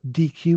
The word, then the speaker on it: Deque: You've got DQ, which is spelled DEQUE.